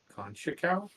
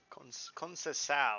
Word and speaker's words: Conceição: Only with a $41 million offer for Francisco Conchacao. Yep. Conceição, I believe is how it's pronounced in Portuguese.